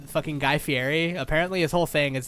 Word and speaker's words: Fieri: guy fieri apparently his whole thing is that his name is actually pronounced like fairy like that's how it's actually supposed to be pronounced but he's made such